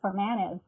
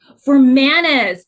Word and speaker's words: Formanes: for being here hey oh quick correction my last name is for manage for manas thank you sorry about